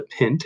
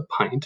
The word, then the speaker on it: pint: By the way, this is not pronounced a pint, it is pronounced a pint. So there's a common mistake for you. Make sure you don't make it.